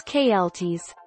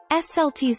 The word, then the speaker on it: Celts: with a hard see take our lead the celts klts slts see pronunciation of celt for different usages are a